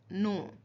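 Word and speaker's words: know: नो यहां पे क्या है? के साइलेंट है। तो आप लोग ज्यादातर लोग क्नो कनो। क का नहीं साउंड आएगा यहां पे।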